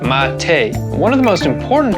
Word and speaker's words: mate: drink i'm talking about mate yes that's how you say it mate one of the most